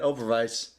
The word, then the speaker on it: Oberweis: Like, hats off to Overweiss for whatever the fuck. Yeah, right. And he threw in the German pronunciation. Look at that, Oberweis. That's a W, not a V.